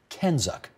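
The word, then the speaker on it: CANZUK: Kenzuk.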